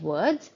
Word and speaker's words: word: is used as uh this is normally seen when w is the sound or the consonant before o r so we do not